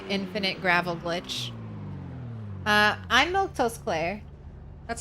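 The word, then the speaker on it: Milquetoast Claire: completely distracted by infinite gravel glitch uh I'm milk toast CLA that's how you say my name [ __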